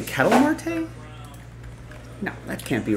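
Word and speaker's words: Ketel Marte: Hit Parade jaspy collab I think it's pronounced Kettle Marte or it's catel Marte right that's how he wants it pronounced of course Rex of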